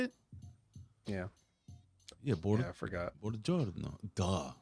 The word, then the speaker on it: Buongiorno: Buongiorno.